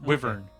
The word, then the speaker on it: wyvern: Weaver it's it's it's it's less the pronunciation more the emphases it's wyvern with I think is how I pronounce it okay instead of Laverne